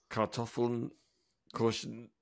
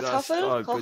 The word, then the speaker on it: Kartoffeln kochen: So you'll have to pronounce it properly for me. Kartoffeln kosten gestampfen in einen Eintopf geben. My God, I've That's just not bad. butchered that, isn't it? It's Okay, I Kartoffeln kochen, butchered that.